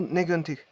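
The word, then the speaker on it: negentig: Alors, là, encore une fois, il y a au niveau du palais, il y a une prononciation d'un son donc, qui est négantic, qui n'est pas un R comme arctine. Voilà, c'est négantic. Donc, il y a un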